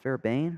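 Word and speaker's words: Fairbairn: for the kick here that's how it's pronounced fairbane right Fair Bane there's a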